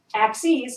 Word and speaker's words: axes: Axes is plural of axis. We change the I to an E and it's pronounced axes.